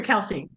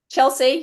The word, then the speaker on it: Chelsey: Is it Chelsey or Kelsey? Chelsey. Yeah, Chelsey.